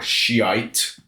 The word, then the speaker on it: Shiite: with your Shia or Shiite is the English pronunciation which is literally what it is.